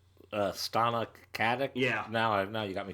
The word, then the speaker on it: Stana Katic: The thing online is that they're Castle and, Nathan Fillion and Katanik? How do you say her name? Stana Katic?